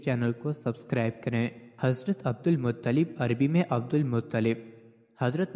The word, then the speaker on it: عبد المطلب: یا شیبہ الحمد۔ ان کو عبد المطلب درست تلفظ عبد المطلب اس لیے کہا جاتا ہے کیونکہ ان کو